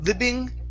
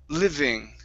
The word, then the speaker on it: living: living okay right here instead of lib libing give me a good V sound it's V Liv living Liv okay very nice and